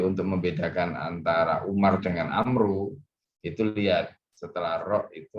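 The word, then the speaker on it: عمرو: Kalau Amru itu belakangnya ada wawu, maka bacanya Amru, bukan Umar.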